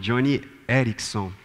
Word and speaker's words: Joni Eareckson: Ela chama Joni Eareckson. Acho que é mais ou menos assim que se pronuncia o nome dela.